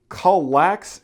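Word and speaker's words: KALLAX: we have here this is known as the colax shelving system this also comes from Ikea now I'm pretty sure I'm mispronouncing the shelving system name but it is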